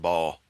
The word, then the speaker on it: Baal: He encouraged Baal worship. His sins brought God's judgment on the nation, It's pronounced ball.